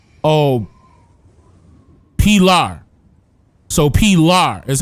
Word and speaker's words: Pilar: So Pilar is how you pronounce it.